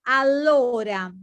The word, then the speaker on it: allora: So, allora, Allora. with double L, allora.